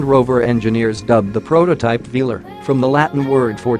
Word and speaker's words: Velar: That makes sense for a secret prototype, and it does roll off the tongue quite luxuriously, with emphasis on the first syllable, but is Range Rover hiding something?